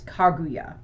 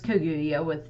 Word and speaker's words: Kaguya: No, today I am going to be talking about the tale of the Princess Kaguya.